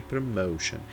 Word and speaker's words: promotion: Nesse caso, o mais forte é o som do meio, promotion. Mas não é só isso que eu queria dizer. Porque muitas das vezes a letra O você vai pronunciar O. Então, por isso que existe até esse símbolozinho aqui, ó. Parece uma ferradura. É um som de U. Então, promotion. Certo?